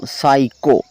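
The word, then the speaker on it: psycho: आगे लास्ट में है पी एस वाई सी एच ओ साइको silent letter वाली वीडियो में मैंने आपको बताया था कि जब भी एस से पहले प आता है तो हमेशा प साइलेंट होता है वह साले लेटर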